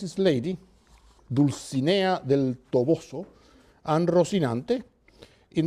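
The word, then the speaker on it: Dulcinea: Quixote names is Lady deuce Ania del Toboso and Rocinante in the first case the lady he follows literary convention her name rhymes with Mellie bear who is the one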